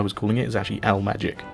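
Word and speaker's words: Al Maajik: magic as someone told me the the chronic pronunciation of al mighty as i was calling it is actually l magic like as in magic stuff so there you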